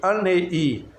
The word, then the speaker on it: Arei: Eu até hoje sou chamado por eles, aqueles com quem eu mantenho contato, de Anei. Escreve-se A-R-E-I, Arei. Mas o N tem um tio, ele é pronunciado anasalado e vira um N.